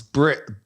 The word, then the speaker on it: Birss: And you need to say it like it sounds. Birss.